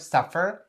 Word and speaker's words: suffer: So the word suffer is supposed to be pronounced very, very clearly. Suffer, suffer, suffer. Don't forget to roll your tongue inside of your mouth to enunciate very clearly the R sound at the end.